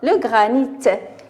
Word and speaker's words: granit: Des ours, on dit un ours, des ours, ici, on prononce le S, des ours, voilà, ici, donc le granit, on prononce le T, alors le granit, le granit.